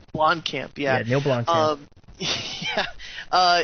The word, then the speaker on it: Blomkamp: I saw that, I guess, Bloody Disgusting reported that Alien, the Alien 5, I've always mispronounced this guy's last name, Blockman? Or Blomkamp. Blomkamp, yeah.